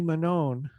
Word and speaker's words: Manone: I had a question about Wingy Manone. Is that how you pronounce his last name?